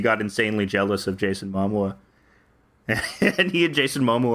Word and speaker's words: Momoa: What if Johnny Depp, he couldn't watch Aquaman because he got insanely jealous of Jason Momoa?